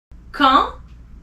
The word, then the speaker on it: quand: Quand, A-N-D, you don't pronounce the D at the end, remember?